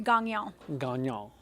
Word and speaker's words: Gagnon: is that like like proper French Canadian pronunciation of your name would be Gangnam but I took four years of French or three years of French in high school very close I really appreciate the effort I